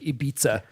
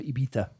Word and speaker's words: Ibiza: That's just the Irish way of saying it, like Ibiza instead of Ibiza.